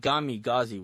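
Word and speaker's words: kamikaze: He called it Gami-Gazi, which is the pronunciation in Russian.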